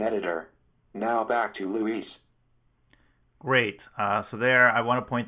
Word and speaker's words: Luis: So I'm really happy to be back to being Luis and not Louis.